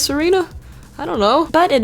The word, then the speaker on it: Tsareena: evolves into Sera Serena I know the te is silent so maybe it is Serena I don't know but